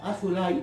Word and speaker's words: Azoulay: Quiero decir que el apellido Azoulay, que se pronuncia Azulay, es un apellido muy